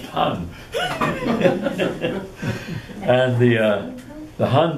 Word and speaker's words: Han: it was replaced by the han dynasty actually pronounced han and the uh the han dynasty immediately adopted